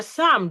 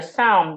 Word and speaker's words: psalm: Did you read your psalm this morning? Did you read your psalm this morning? Yes. Psalm has a long vowel.